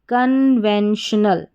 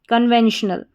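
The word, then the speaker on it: conventional: तो पूरी स्पेलिंग हमारी क्या बन जाती है, CON कन, VEN वैन, श और TIO श, NAL नल, कन्वेंशनल, कन्वेंशनल।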